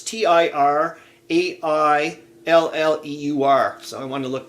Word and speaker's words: Tirailleur: Well, for French, it's like for the Senegalese troops and whatnot, Tiralleur or something. I don't know how to say it properly, but I want to look that up. It's Tirailleur.